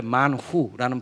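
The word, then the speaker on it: מן הוא: 여러분, 만나라는 이 히브리어가 원래 만후라는 발음인데 이게 뭐냐 이런 뜻이에요.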